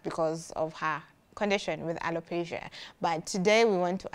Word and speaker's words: alopecia: Well, we're going to talk about alopecia. Alopecia is the right pronunciation.